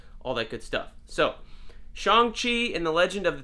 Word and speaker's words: Shang-Chi: in my head as Shang-Chi, even though now that I know that the correct pronunciation is Shang-Chi, closer to Sean, which is his American